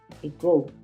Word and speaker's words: ago: mucho que es ego ego se escribe ago pero se pronuncia ego y significa básicamente hace